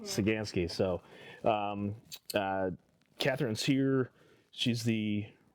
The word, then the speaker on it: Saganski: What's pronounce it? Saganski. Saganski.